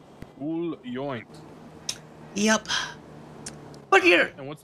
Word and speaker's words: Yoint: yep you see the the proper way to pronounce the first and the last name is uh joint yup look here and